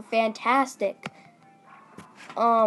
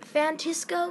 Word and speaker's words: Fantastico: Is it Fantisco? No. Is it like San Francisco? No. Fantastico. Is Spanish for fantastic.